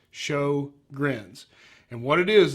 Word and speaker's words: Sjogren's: kind of spelled funny it's actually spelled SJ o gr en but it's pronounced sho grins and what it is